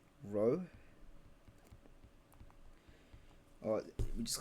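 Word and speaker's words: rho: / volume so we call this um letter row or we just call it density right but that's how you pronounce it row so density is equal to mass of volume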